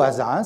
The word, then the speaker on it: Asa: et que fait assa assa ou hasa ça dépend comment on veut le prononcer assa fils qui est